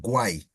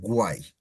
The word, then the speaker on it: guay: as you can see, it's spelled or it sounds just as it's written, guay. It's not guay or guy or it's guay. As you can see, you say all the vowels, guay.